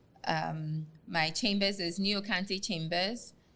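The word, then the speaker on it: Nii Okantey: Like I said, my chambers is Niokante Chambers. It's spelled N-I-I, and then another word, O-K-A-N-T-E-Y, Chambers.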